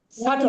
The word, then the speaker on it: subtle: correct yes what is the correct pronunciation subtle the correct আপনি বলুন subtle pronunciation of this